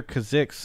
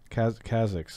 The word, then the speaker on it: Kha'Zix: dialects, but it's just funny because I hear Kazix and I'm thinking like Ziggs, but Kazix is, I think, how most people say it. Kazix, and so it was just funny when you were saying Kazix it's definitely Kazix.